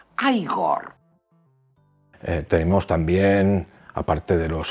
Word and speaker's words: Igor: Usted debe de ser Igor. No, se pronuncia Igor.